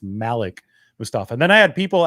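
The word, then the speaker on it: Malik Mustapha: press conferences, even said, this is the correct pronunciation, is Malik Mustafa instead of Malik Mustafa. So it's Malik Mustafa.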